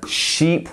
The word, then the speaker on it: sheep: sound ship ship whereas sheep we're almost pushing our cheeks outwards sheep sheep instead of ship